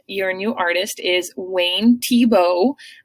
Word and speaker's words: Thiebaud: Your new artist is Wayne Thiebaud, just like the football player Thiebaud.